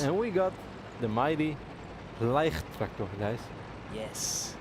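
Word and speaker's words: Leichttraktor: and we got the mighty Leicht tractor, guys. Yes. No low tractors, no L tractor, just call it a Leicht tractor.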